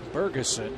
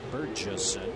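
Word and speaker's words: Bergesen: It's Bergeson, not Burgesson, so I apologize for that.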